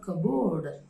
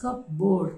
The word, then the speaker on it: cupboard: word and next word is covered it's not cabood right people literally speak they pronounce the word as cup board cabord it is not the way now we